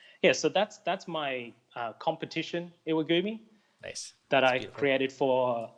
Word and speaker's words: Iwagumi: Yeah, I can totally see the similar idea of the, I don't know if I'm saying it right, iguami. How do you say it? Yeah, Iwagumi. Yeah, Iwagumi, there you go.